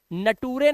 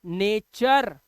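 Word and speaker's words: nature: Rule number 45, जब किसी word के लास्ट में URE आए तो उसको अर पढ़ते हैं, इसलिए इसे नटूरे नहीं पढ़ना है, इसे क्या पढ़ना है, नेचर।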